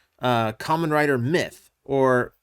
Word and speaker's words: My-Th: So, technically you would probably say Kamen Rider Mythe or mythe. Well, when you say it like that, mythe, then you get closer to the Japanese pronunciation of Mythe.